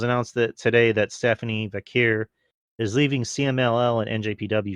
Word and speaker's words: Vaquer: bigger topic uh so Stephanie viir or vure is that yeah yeah vure that's how you say it y um who